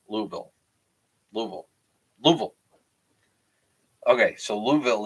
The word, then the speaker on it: Louisville: okay we say Louisville Louisville okay so Louisville there's no e like Lulu okay I'm done I'm